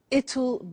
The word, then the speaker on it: it'll: now will is easy really it's just the pronunciation which is difficult I said tomorrow it'll be cold you notice how it will becomes